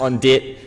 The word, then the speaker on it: On Dit: So On D, it's not pronounced On Dit, it's pronounced On D, even though that's how it's written.